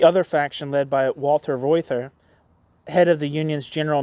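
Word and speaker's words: Reuther: guy's name right um his father probably would have pronounced his name reuter um th is us usually a t in German um but I'm imagining that Americans uh called him ryther uh ryther acquired a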